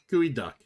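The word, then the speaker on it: geoduck: in a Seattle specialty it's actually pronounced gooey duck and the uh and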